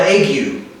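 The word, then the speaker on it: ague: also feared something that they call it egg you sometimes pronounce a a-g-u-e uh also referred to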